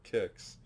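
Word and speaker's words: Qix: tempest kicks q i x but apparently it's pronounced quick or kicks so um that's pretty cool omega race donkey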